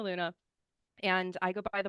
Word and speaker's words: Lughna: challenging so I'm Luna I always people it's saf like Sapphire Rihanna like the singer and then Luna like the moon so saf Rihanna Luna and I go by